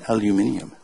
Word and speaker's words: aluminium: See, there's aluminum tags down here. See? Or as the British say, aluminium.